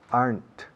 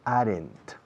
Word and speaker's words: aren't: Fijaos en la pronunciación de aren't. Aren't. Es una sola sílaba. No decimos aren't. Decimos aren't.